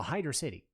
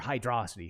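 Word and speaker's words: Hydrocity: three it's more well no Hydra City or hydrosity however you want to pronounce it Hydra city is fine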